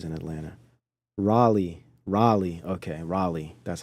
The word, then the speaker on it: Raleigh: little different areas in Atlanta Raleigh Raleigh okay Raleigh that's how you say it Raleigh there we go Gotta Eat You Gotta Eat